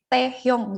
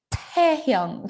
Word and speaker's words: Taehyung: Dibacanya tuh bukan pakai T, taehyung gitu bukan, tapi dibacanya ada nafasnya sedikit taehyung kayak gitu.